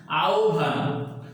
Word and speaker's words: আহ্বান: যদি এই হয়ের সাথে বফলা যুক্ত হয় তাহলে মনে রাখতে হবে এখানেও হয়ের উচ্চারণ লোপ পাবে, হয়ের উচ্চারণ লোপ পাবে এবং থাকবে হলো ব। আর যেহেতু ব থাকবে আর এটা আবার মহাপ্রাণতা দান করবে, কাজে এটার উচ্চারণ হয়ে যাবে ভ।